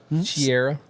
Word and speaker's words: Cera: I just think this one, all the characters kind of fell flat, and I think Michael Cera, Sarah, how do you say it? Sarah. Sierra. Yes, that's Sarah.